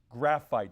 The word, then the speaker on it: graphite: Graphite. You were saying granite. I think you were trying to say granite maybe, but graphite was the correct pronunciation of that.